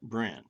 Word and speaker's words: Brenne: I watched a video with Allison, she said Brenne. Okay, I've seen it pronounced Brienne, 2 syllables, but she called it Brenne.